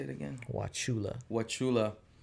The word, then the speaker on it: Wauchula: sorry how do you say it again wachula wachula how what was the hip-hop scene over there